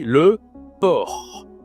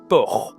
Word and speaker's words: porc: Bon et bien on dit le port. Le por. Il y a un c à la fin mais tu ne prononces pas le c.